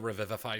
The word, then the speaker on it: Revivify: It's basically just a single-use cast of the Revivify spell without using a spell slot or any components. How do you spell that? R-E-V? It's like Revive, but with a phi at the end.